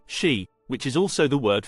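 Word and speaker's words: 四: number four is considered unlucky because it is pronounced she which is also the word for death this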